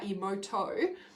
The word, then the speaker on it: Emoto: If you Google Emoto, so like emotion, but Emoto, water crystals.